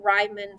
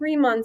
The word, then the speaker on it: Riemann: are what we call rhymin sums riemann sums oh my gosh i didn't look it up ahead of time so i can't remember the pronunciation i want to say riemann riemann it is okay it's riemann sums you know i'm so